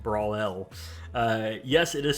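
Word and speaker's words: Brawel: At that time, my friend and I were just creating a game mode called Bakugan Brawl, and it's spelled B-R-A-W-E-L, so like Brawl L.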